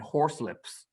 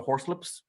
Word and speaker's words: Horslips: Apparently, they're it comes from a Spoonerism that was like the four poxmen of the Horselips. But it's spelled Horslips. Horselips. I'm sure there was another.